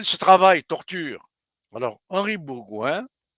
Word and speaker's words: Bourgouin: travail torture alors Henri Bourgouin ça s'écrit comme ça se prononce Henri bon prénom Bourgouin B o u R